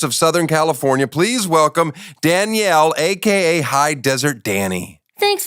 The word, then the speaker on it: Danielle: I know, I literally pronounce my own name wrong, but it's Danielle. But everyone's like, Danielle? I'm like, that's just... You say it like Danielle. I say it like Danielle. Like French almost.